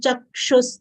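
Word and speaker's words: चक्षुः: Shrotrain chakshus, cha, full letter followed by conjunct letter, half ka, full retroflex, sha having short u sound will give stress of half cover, cha, chakshus. Kshu is followed by visarga.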